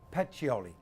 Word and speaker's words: Pacioli: How do you pronounce his name? Pacioli. Pacioli.